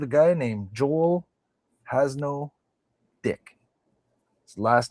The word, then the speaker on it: Dyke: And Dick being spelled D-Y-K-E like Dick Van Dyke, but pronounced Dick.